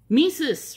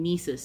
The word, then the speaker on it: Mises: Mises remix videos. Barricade Garage did a shout out to an artist named Mises, spelled like Jesus with an M.